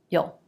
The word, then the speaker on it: you'll: You will becomes you'll. And often we pronounce that very quickly with a schwa like you'll.